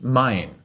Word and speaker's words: Main: It's spelled M-A-I-N, but it's pronounced Main.